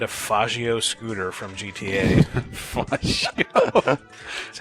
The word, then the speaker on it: Faggio: Faggio. That's how it's pronounced.